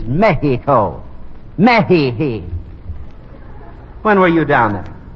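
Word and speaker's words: México: to pronounce it right the correct Spanish pronunciation is Mexico when were you down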